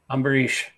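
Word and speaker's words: Ambarīṣa: Amberish. Yeah. The dot under the s is pronounced sh.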